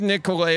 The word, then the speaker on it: Nicolet: if you're injured give nicolay a call 1855 Nicolet n yeah yeah I say Nicollet because some people only if some people see a t they're pronouncing the tea so for them folks